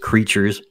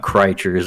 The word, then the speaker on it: Crytures: probably tell by the mechanics I use in creatures but uh oh by the way uh yeah the game the game I'm making is pronounced just creatures not not crates it's just a portmanto of Crystal creatures so